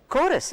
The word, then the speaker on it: chorus: Chorus is spelled C-H-O-R-U-S. Church is also spelled C-H-U-R-C-H. In the first word, chorus, C-H has a K sound, K sound, K.